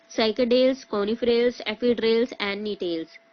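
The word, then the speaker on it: Gnetales: कोनि fails एफड्स एंड टेल्स टेल्स में जी जो हमारा रहता है वोह साइलेंट रहता है द साइकल्स आर रिप्रेजेंटेड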